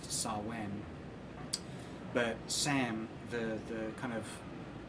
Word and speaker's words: Samhain: the jigsaw from the movie saw sam from Samhain witch is mispronounced it should be pronounced to saw when but Sam the kind of evil protagonist antagonist